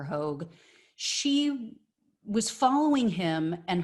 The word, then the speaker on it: Hogg: so that was david hogg i believe it's pronounced hog or hogue she was following him